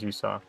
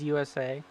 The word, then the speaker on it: Yusa: And then last car in this pack in 8th place, 7th place is James Yusa. Alright, you're pronouncing it right too, instead of the previous broadcaster saying it James USA.